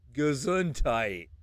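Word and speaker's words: Gesundheit: is my second language would you actually like to hear how it's pronounced yeah yeah okay let me yeah it's gazuntite I know right the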